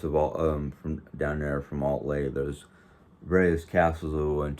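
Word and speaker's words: Altlay: But Altley is the name of the town that we lived in for 2 different years out of the 3. And it's spelled the same way it's pronounced, Altley, A-L-T-L-A-Y.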